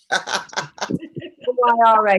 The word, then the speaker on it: Moira: Myra is how they pronounce it, Miss Moira.